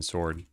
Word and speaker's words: sword: I mean, according to the dictionary pronunciation, it is silent. I guess you could look at a different dictionary if you want, like Mariam Webster, and type in sword. So here it says S O R D and there's a little thing on the O.